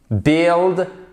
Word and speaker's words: build: identiques par exemple tu build build beat donc to build build build qu'est-ce qui se passe à chaque fois la clé ici c'est de ne pas prononcer le U tu build build construire